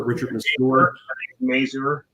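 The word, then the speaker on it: Richard Masur: do you say that guy's name Richard Nasser Richard sport Mazur thank you yeah they got the dad who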